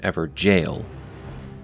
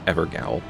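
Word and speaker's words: Evergaol: actually found within an Ever jail notice how I'm putting emphasis on jail as many in the community left comments calling us out on our mispronunciation of evergel as evergowl we've learned our lesson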